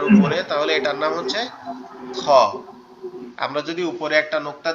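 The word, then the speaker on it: خ: খটা হচ্ছে আমাদের এই যে কণ্ঠনালীর শেষ, অর্থাৎ আমাদের এই গলার সাথে যে অংশটা লেগে আছে, এখান থেকে আওয়াজটা হবে, কিন্তু মনে হবে গালের ভিতর থেকে আসতেছে। খ খ খ।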